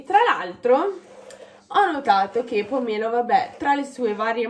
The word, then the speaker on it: pomelo: Io, vabbè, l'accento è sulla E, quindi è pomelo.